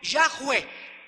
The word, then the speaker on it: Yahweh: Entonces tenemos Yehi, Jove, Haya, que se pronuncia en el hebreo Yahweh y que se tradujo Jehová en el latín y en el inglés.